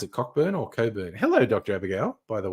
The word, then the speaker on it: Cockburn: that's what I thought cockburn is normally pronounced Coburn yeah of course canra